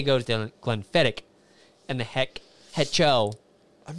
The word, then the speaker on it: Glenfiddich: So it's Glenfiddich and Hetcho. Oh, okay. So you were pronouncing them backwards. Okay. I thought he meant both of them. You were doing the CH to both, and they should both be the K.